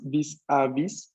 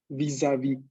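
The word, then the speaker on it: vis-à-vis: Esto en francés no es vis-a-vis, sino es vis-a-vis. Y la última S, pues, brilla por su ausencia, no se pronuncia. Mientras que esta hace una especie como de acuerdo, de conexión fonética con la A, y no se pronuncia como S, sino como una Z, vis-a-vis, que daría la pronunciación correcta en francés.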